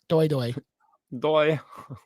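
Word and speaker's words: Doi: Well, if you're pronouncing it right. D-O-I. Doy.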